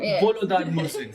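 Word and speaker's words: Volodar Murzin: Wait, which correct pronunciation did I watch this time? Was it Volodar? Volodar Mursin.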